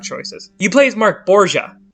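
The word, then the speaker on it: Borja: You play as Mark Boura. Bora. Okay, here's how it's spelled.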